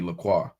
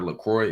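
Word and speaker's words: LaCroix: It's like people call the water Lacroy. It's the true pronunciation based on the French spelling supposed to be Laqua.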